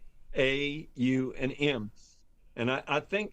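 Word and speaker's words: Aum: And and besides the word m when it's chanted is stretched out into three syllables. Yeah. A U and M.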